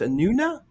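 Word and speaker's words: Anúna: time like when you were on an it's pronounced anuna anuna anuna anuna how many times were you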